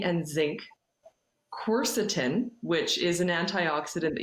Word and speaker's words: quercetin: supplement called quercetin and it's spelled q-u-e-r-c-i-t-i-n is that right yeah exactly yeah i've actually got a bottle here to show you how it's spelled uh quercetin sorry there quarter times you can see the spelling of it um and and